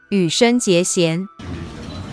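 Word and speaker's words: 羽生结弦: It's read as Hanyu Yuzuru. However, in Chinese, the same characters will be read as Yu Shen Jie Xian.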